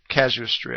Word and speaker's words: casuistry: the market he understands Rish caus hisory though casuistry I think is the actual proper pronunciation it's the same thing